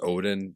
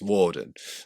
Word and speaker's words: Odin: So like if somebody says Odin, the same way somebody says Jesus, if somebody says Odin, they're pronouncing it wrong. It's Woden.